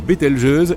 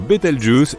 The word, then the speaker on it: Bételgeuse: Quant à la manière de prononcer correctement Bételgeuse, tu peux le faire comme bon te semble. Tu peux même dire Betelgeuse si tu en as envie.